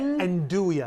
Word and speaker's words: andouille: And how do you say andouille?